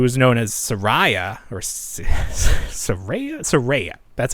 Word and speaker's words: Saraya: Then they're doing a new wave with, let's see, Paige, who is known as Saraya, or Saraya.